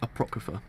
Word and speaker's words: Apocrypha: Okay, so let's start chapter 0 of Fate Apocrypha. That's how you pronounce the word correctly.